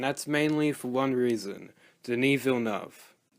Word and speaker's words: Denis Villeneuve: mainly for one reason: Denis Villeneuve. Also, yes, that is how you pronounce his name. Here's a clip of him saying it. Hello, my name is Denis Villeneuve.